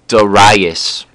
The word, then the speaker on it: Darius: um the Persian king Darius I always thought his name was pronounced Darius but as I was watching the movie they kept saying daras and so and then